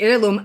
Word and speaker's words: heirloom: And I know it's supposed to be heirloom. I said it wrong because I wasn't focusing on it. So, it's really funny cuz then people were like, "Oh, um, not nitpicking, but it the H is silent.